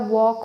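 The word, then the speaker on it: walk: इसी प्रकार वॉक हो गया, वॉक में भी एल साइलेंट होता है, ठीक है, बहुत सारे हैं यहाँ पे रोमन लिपि में।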